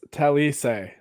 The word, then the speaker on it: Talise: It's Talise, so it's not an extra syllable.